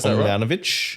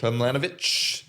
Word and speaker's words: Tomljanović: How do you pronounce that? Ajla Tomljanović. Tomljanović.